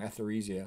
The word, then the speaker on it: Etheresia: I spelled her name wrong, Etheresia. It's almost like ether for anesthesia.